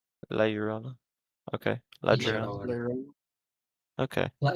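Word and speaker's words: La Llorona: How do I No, no, that's not how you pronounce it. Yeah. It's It's got a much harder Y sound. Lijoana, yeah? Lijoana. Lijoana. La Yorona Okay.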